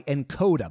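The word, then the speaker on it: nkoda: is brought to you by encoder by the way that's spelled NK Oda this app is like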